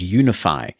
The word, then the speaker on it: UniFi: So you've got the more professional business-grade technology called Unify from Ubiquiti. And for those who've not seen that written down, it is spelled UNIFI.